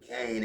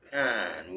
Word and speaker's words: Cain: Enoch is third from Adam because Enoch is Cain's son, and Cain ain't pronounced Cain. It's pronounced kind. When you got AI in a word, it's kind, like rain is rain.